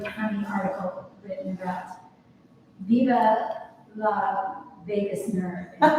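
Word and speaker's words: vagus: It's Vegas like the city.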